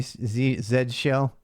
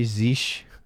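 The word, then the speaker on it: zsh: bash is he shall z z shell some say zeesh we actually we have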